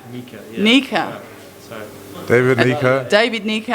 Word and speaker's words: Nyika: red boxing with the david naika try again nika nika mika nika sorry david lieker david